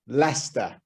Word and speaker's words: Leicester: it to you now it's pronounced lester but it does not look like the way you pronounce it and many names of